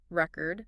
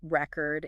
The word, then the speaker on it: record: something something right but if we stress the second syllable record it's a verb meaning to preserve something in writing or audio wow so the same word can have two different meanings depending on where we put the stress that's right so it's